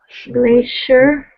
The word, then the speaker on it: glacier: i'm not right yeah it's uh actually becomes yeah like a sure glacier glacier yeah and glacier washer like special you know special it's spelled also ci okay very good good